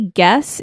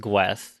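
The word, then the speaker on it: Gwess: so back to gwes so it's actually guess in like the manga and stuff the the it is it is pronounced guess yeah and it is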